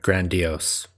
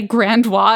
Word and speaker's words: grandiose: I've only ever heard grandiose. So. That's what I thought, and then like I feel like I've heard some people say grand wah, and I think it's just them not knowing how to say it, and then like